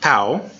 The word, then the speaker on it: tau: the next one is tau and it's fairly normal it sounds like the T and talk it's a normal T sound so it's a T